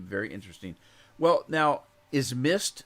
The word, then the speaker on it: Myst: that made the original mist now the original mist is spelled m-y-s-t and it came out